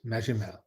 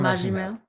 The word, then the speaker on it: Magimel: Magimel. Magimel? Benoit Magimel. A soft G.